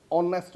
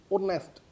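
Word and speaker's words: honest: नेक्स्ट sentence देखें, ही इज़ एन ऑनेस्ट मैन। ऑनेस्ट तो एन आएगा, ए नहीं आएगा।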